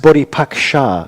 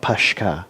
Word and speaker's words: Bodhipaksa: it it's just a it's pronounced body pack sha not pashka